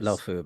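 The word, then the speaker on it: Luofu: The lofu by the way was how it's pronounced.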